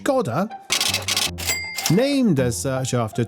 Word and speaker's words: Škoda: The Scoda Elrock, pronounced Skodda, named as such after a 2019 visit from a former wrestler to a famous Spanish landmark, Elro.